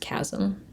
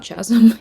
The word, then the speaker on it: chasm: If you ever need to say the word chasm, it's pronounced chasm, not chasm, even though.